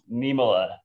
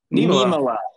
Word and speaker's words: Niemela: Hey, real quick, how do you pronounce your last name? I want the official pronunciation. Niemela. Niemela. Niemela. Yep. Wow, I've been saying. I feel so like wrong. You're. I feel like you're. Pronouncing I've been saying Niemela. Niemela. Niemela. Niemela. Yep. It sounds Niemela. Sounds right. Finnish. It's Finnish.